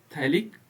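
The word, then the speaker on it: phthalic: इसका नाम क्या है थैलिक्स और थैक में पी जो है क्या होता है साइलेंट होता है बाकी थैल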